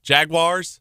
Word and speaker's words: Jaguars: Wars, there's no I in there. Jaguars? Jaguars? Yeah, that's how you say it.